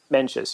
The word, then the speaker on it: Mencius: It's Mencius. Is that how you pronounce it? Mencius, yeah.